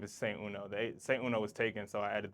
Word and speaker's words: Saint Uno: Saint Uno, just how it's spelled.